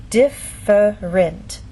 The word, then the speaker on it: different: In very slow, careful speech, and especially formal speech, you might get this pronunciation, different. But often in fast speech, you lose that middle sound and you get different.